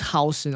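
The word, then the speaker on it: Huijsen: Banana says it's pronounced Hausen.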